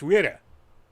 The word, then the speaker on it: Wille: In English, it's spelled Wille, so Willy. And that just... I forgot what it's pronounced, too. So it's German. It's Wille.